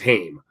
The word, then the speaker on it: Haim: haim first of all people that mispronounce it i'm like you're definitely not from toronto if you don't if you can't pronounce hame like but if you